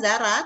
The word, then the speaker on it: Zara: Zara jadi R-nya Zara, tetap Zara tapi R-nya double gitu.